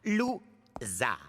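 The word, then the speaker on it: Lou Zarr: Mon nom se prononce Zar. Lou-Zar.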